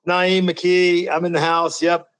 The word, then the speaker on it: Na'im McKee: what's up man you got it right it's Naim McKee I'm in the house yep two-time Alum of